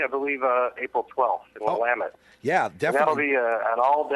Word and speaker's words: Willamette: I think I've got Portland, Oregon, or I always forget how to pronounce it. Willamette. Willamette.